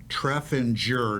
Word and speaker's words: Treffinger: And it is Treffinger, not the way Yes. that I've been pronouncing it.